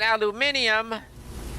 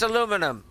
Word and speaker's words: aluminium: those in the Commonwealth that's pronouncing aluminium look we Yanks are just too lazy okay it's aluminum you know how the F